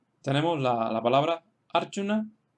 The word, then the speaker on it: Arjuna: La segunda fila tenemos ejemplos en los cuales se acentúan en la primera sílaba porque la segunda sílaba es corta.